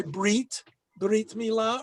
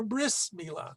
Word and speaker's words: brit milah: celebrating her bat mitzvah, or it's an Ashkenazi pronunciation, her bas mitzvah. That's why brit milah, or bris milah, the same thing.